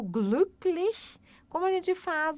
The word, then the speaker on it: glücklich: Porque você não faz o biquinho, você precisa fazer o biquinho e falar I, não falar somente I, ó.